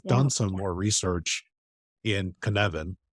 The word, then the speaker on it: Cynefin: So I've done some more research in Cynefin, which is spelled CNECYNEFIN, Cynefin. It's a Welsh word.